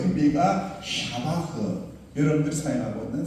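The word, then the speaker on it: שבח: 그 의미가 샤바흐. 여러분들이 사용하고 있는 세바라는 그런 의미로 사용을 하고 있어요. 더 정확한 의미는 정확한 발음은 샤바흐입니다.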